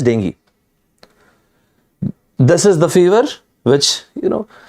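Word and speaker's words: dengue: diagnosed with being in the exact pronunciation as i said is dinghy this is the fever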